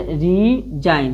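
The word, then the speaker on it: resign: इसे रीजाइन यानी रीजाइन यानी जी को साइलेंट रखना होता है।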